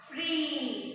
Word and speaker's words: free: Here double E is getting, first vowel should be speaking and second one is silent. So how we have to read this? Free. You have to take a long vowel sound. You have to pronounce as long time.